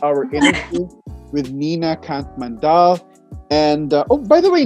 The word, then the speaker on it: Mandal: I know because like in English it's like Mandal, but now it's Mandal.